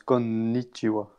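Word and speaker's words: こんにちは: comme tu as deux N, en fait tu prononces konnichiwa.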